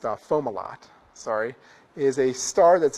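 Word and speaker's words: Fomalhaut: around planets so uh FAL how no actually it's pronounced fomal lot sorry is a star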